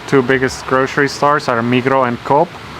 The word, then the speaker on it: Migros: Yeah, they have in Switzerland the two biggest grocery stores are Migros and Coop. And Migros With the S, written, but they don't pronounce this yeah.